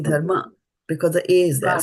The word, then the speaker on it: dharma: But you have to say that A, right? It's not dharma.